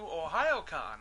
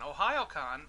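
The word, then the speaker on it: Ohayo Con: Now, on to OhioCon. OhioCon, if you're not aware, it's a convention in Ohio, and it's spelled O-H-A-Y-O Con. Ohio being the Japanese name for good morning.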